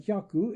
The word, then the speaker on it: hyaku: The O before this trisyllable seems contrary to rule, but hyaku is pronounced almost like a dissyllable.